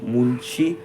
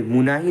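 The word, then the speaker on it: Mulshi: Mahadev Bapat lead the मुलशी sorry मुनाही नहीं मुलशी मुलशी सत्याग्रह for which he was punished with six years of इंप्रज़मेंट।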